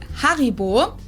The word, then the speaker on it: Haribo: Haribo is actually German we proun it Haribo Haribo and again the name